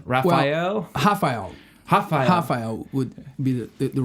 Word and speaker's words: Raphael: Well, Raphael would be the right pronunciation. And that is the Portuguese pronunciation?